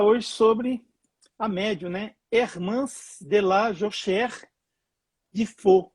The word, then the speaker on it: Ermance: pois é, tem muita gente falando que o nome dela é Hernance, com N de navio, e não é com M de Maria, é Hermance.